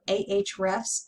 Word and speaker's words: Ahrefs: that my agency uses it's called arabs or ahrefs everybody pronounces it differently i think of it as arabs i'm going to use